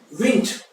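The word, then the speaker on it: wind: विंड। विंड होती है हवा। विंड होती है हवा, ठीक है, और अगर इसका प्रोनाउंसिएशन वाइंड हो जाए तो होता है लपेटना।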